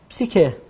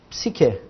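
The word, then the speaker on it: ψυχή: Começamos com PS. Aqui um Y, psi, um Q e um E. Psique. Psique.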